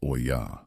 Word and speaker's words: olla: A technique that would later be recognized globally under the Spanish term olla. Pronounced o-ya.